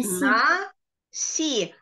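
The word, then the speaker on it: נשיא: а никак не читается и в слове наси наси это Президент буква алиф тут тоже не читается Узин читай следующее оно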